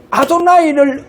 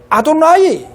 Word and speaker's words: 아도나이: 여호와를 아도나이로 다 해보는 거예요. 여호와를 발음하지 않고 여호와 모음에 대해 모음의 자음을 붙여보는 거예요.